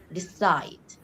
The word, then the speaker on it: decide: Then decide. Decide. When a verb is uh like containing two syllables, the second one is usually the stressed one. Decide. Side is a stressed one.